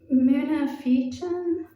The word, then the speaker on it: Munafiqun: The next surah, which is about hypocrites, is pronounced munafiqun, and it describes a hypocrite saying that, they usually lie, they don't keep oaths, they're an enemy.